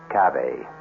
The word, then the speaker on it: cave: word spelled the same way C A but pronounced cave it means beware our cast included Mar and